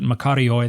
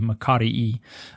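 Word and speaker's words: μακάριοι: So in the Greek, the word is, you pronounced it makarioi, that's following the Erasmian pronunciation. In modern Greek, it would be makarii.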